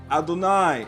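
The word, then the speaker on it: אדני: So therefore, again, it says, not as I am written am I pronounced. I am written with the letters Yod, He, Wah, He. I am pronounced Aleph, Dalet. And of course, Nun and Yod is inserted. Adonai is what is referring to.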